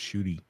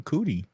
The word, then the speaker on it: Ncuti: I think that the actor, his first name is actually pronounced Shooty. That's what he said. I said earlier. Yeah. Well, you didn't say it this time. You called him Cootie. No, I said Ncuti. Okay, well, you're still pronouncing the N. Again, not my fault. You don't pronounce the N or the hard R.